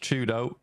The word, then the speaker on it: 4YDO: For Twisted Minds, if you weren't aware, 4YDO is pronounced Chudo.